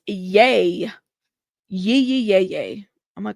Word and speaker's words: Ye: It's pronounced yay.